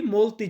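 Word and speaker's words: molto: এরপরে একটু দেখুন এই মৌলত শব্দটা ভিন্নভাবে উচ্চারণ হয়। যেমন অনেকদিন। দেখুন অনেক অসুস্থ অনেকদিন। তাহলে একই হওয়ার কথা। বাট অনেকদিন বলার ক্ষেত্রে আমরা বলি মলতি জোর্নি।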